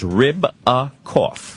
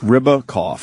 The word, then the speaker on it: Ribakoff: It's just like it sounds. Ribakoff. Ribakoff. Okay. Like ribs with a cough.